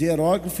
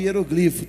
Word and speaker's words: hieróglifo: Há 2 pronúncias possíveis, hieróglifo e hieroglifo, tanto as 2 são possíveis, mas realmente o que Vossa Excelência aponta é o que está acontecendo.